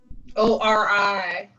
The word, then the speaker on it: Ori: In Yoruba, we call it Ori. O-R-I. Yes, Or pronounced Ori.